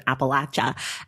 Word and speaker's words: Appalachia: The Long Life of a Double Murder in Appalachia. Emma, welcome to the Sachs. Thank you so much. And great job pronouncing Appalachia.